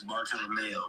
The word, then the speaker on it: Bartolomeo: It's Bartolomeo, but it's Facts.